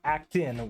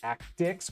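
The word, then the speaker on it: Actix: that except you so it's not actin web it's act Dix web please and not surre e surreal DB thank you yeah I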